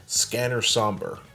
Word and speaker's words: Sombre: I'm pronouncing it as Sombre since this is just a variation of the English word, like colors and colors.